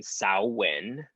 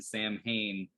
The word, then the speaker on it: Samhain: And it also goes by the name Samhain. They mispronounce it in Halloween too.